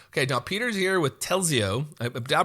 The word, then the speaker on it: Telzi: it already now okay now Peter's here with telio I pronounce that correctly that's right yeah all right